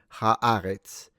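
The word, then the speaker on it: הארץ: but it's the it's this ha that make changes the pronunciation. Ha'aretz. So, ha'aretz. But that's But on its own, I was speaking Italian. But on its own, eretz.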